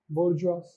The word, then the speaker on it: bourgeois: बोर्जुआ, ये French है, दिमाग मत दो, खाली लिख लो, चेक करो, करेक्ट है, बोर्जुआ.